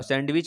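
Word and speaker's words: sandwich: इसी प्रकार सैंडविच में W साइलेंट है, बताना क्या साइलेंट है।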